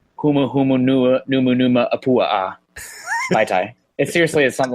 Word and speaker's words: Vaitai: I just remember Vaitai. I cannot pronounce the first name. Yeah, I always think of the alcoholic drink, Mai Tais.